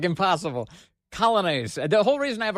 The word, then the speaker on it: Coglianese: Coglianese.